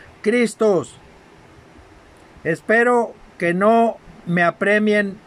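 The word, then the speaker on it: Χριστός: M-A-S-H-I-A-K-H, Mashiach, y de la griega Christos, con K y acento en la O, Christos.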